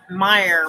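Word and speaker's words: Meijer: restore by the way not Fred Meyer but Meyer with a J major spelled like major like that my ear you guys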